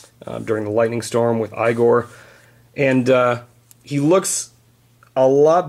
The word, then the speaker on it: Igor: And then, last but not least, we've got Igor, pronounced Igor, played by Marty Feldman.